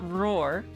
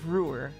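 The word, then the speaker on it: Roer: It's not roar, it's rarer. That O should be a U.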